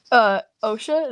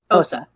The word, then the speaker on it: Osa: you just Osha, is that the name? Osa. Osa? I've been saying it wrong this whole time, and I feel bad.